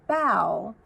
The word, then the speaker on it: bough: From bough, bow.